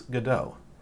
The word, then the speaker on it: Godot: I'm here live on Twitch to announce Let's Godot. Rhymes with Let's Go.